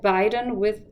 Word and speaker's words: beiden: They can be difficult to pronounce, and there are names like Biden, the US president, and Biden, which is German for both, and they are spelled differently.